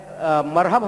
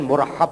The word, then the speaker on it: مرحب: اپنا تعارف۔ میں مرحب ہم کہتے ہیں لیکن اس کا صحیح تلفظ جو ہے پروننسیشن مرحب ہے۔ تو اس نے کہا